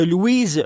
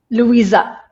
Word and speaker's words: Louisa: là donc on va faire un débat entre Louise est-ce que je prononce bien votre nom Louise Louisa Louisa Louisa c'est bien ça exact